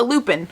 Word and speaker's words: lupin: This next one is a lupin or lupine, however you've heard it pronounced. I pronounce it lupin.